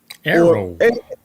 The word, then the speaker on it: AARO: Arrow. Or AARO, because it's pronounced. The acronym is AARO.